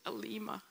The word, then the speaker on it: Aleema: It's Aleema. If you forget how to pronounce Aleema, just say the grateful one and I'll answer.